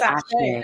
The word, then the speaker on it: Aché: It's It's Aché. Aché.